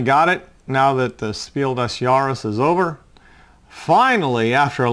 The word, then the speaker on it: Spiel des Jahres: And this one was nominated for Spiel du Jour this year, Spiel des Jahres. Let me correct that. I'm used to saying it wrong.